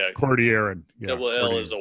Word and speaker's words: Cordilleran: that exactly and and the double L is like a Y Cordilleran yeah well is a